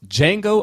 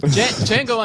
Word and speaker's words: Django: are reviewing the film Django Unchained the D is silent just on Jamie Foxx